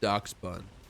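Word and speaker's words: Dachsbun: Also, how many people actually know that it's pronounced Doc Bun?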